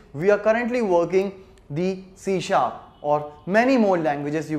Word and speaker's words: C#: Alright, so as you can see, like here, we are writing it like C#, but what we are pronouncing it? We are pronouncing it C#. Why we call it so? Basic idea is from the musical background, where in the Western music, we have this notation for the higher notes.